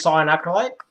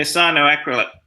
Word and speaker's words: cyanoacrylate: In regards to gluing wood to plastic, I usually use cyanoacrylate. I think that's how you pronounce it. Yeah, cyanoacrylate.